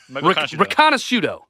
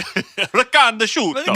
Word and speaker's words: Riconosciuto: Riconosciuto. Okay. That is probably the correct pronunciation. I'm pretty good at Italian names, all right? Riconosciuto.